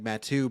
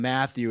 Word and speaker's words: Mathieu: in my family and his name is like Mathieu, but you don't call him Matthew, and when people do,